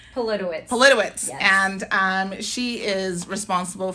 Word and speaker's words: Politowicz: I know I'm going to mispronounce his name. Politowicz.